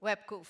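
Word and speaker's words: WebQoof: Is that how I pronounce it? WebCoof, yeah.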